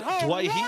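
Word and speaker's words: Doueihi: for our Australian audience, Adam from the West Tigers now would like to be pronounced as Dwayhe, and I'm sure the Lebanese community are happy with that. We respected his wishes when he wanted to be known as Dewey, but now Dwayhe it is at the Cup.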